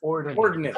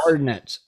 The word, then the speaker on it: ordnance: Ordinance. Ordnance. No, it's spelled. Ordnance. Yeah, the news site did misspell ordinance. O-R-D. They spelled it O-R-D-N-A-N-C-E. Ordinance. Ordnance. Ordnance.